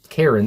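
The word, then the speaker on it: Keren: I would say there is Karen is spelled k e r e n but I think it's Karen there.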